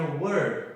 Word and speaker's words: were: Isso daqui não é where, tá, galera? Isso daqui é were. Não se esqueçam, não tem o H no meio e a gente pronuncia de uma forma diferente.